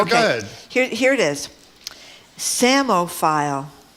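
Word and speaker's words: psammophile: Samo file. That one is pronounced right, by the way. That's how you pronounce That's how you That's said phonetically.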